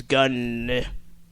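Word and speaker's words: Gunn: confirmed by writer/director James gun I pronounce it like that because it got two ends so uh go as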